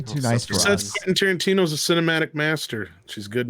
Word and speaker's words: Tarantino: It's the other Quentin Tarantino. Oh, It's pronounced Tarantino.